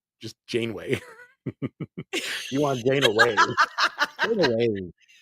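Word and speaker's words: Janeway: once but I never really got into with Jan way with Scott baculo as a captain of one how do you say her name just Jane way you want Jane away away Captain what did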